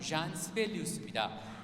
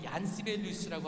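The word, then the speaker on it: Jean Sibelius: 자, 이 곡을 쓴 사람은 잔 시벨리우스입니다. 우리가 얀 시벨리우스라고 하는데 그건 이제 독일식 발음이고요. 또 장 시벨리우스 하면 프랑스식 발음이고 이 사람은 핀란드식으로는 잔 시벨리우스라고 한다.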